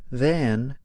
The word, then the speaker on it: than: So you may hear someone say, The metro is faster than a taxi. There, you hear a reduced vowel, the schwa, instead of the sound, a.